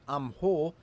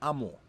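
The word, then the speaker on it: 암호: This word on screen should be pronounced amho, but it is pronounced amo.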